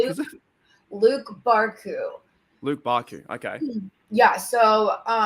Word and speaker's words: Barcoo: That's right, Luke Barku. Barku. It's Barcoo.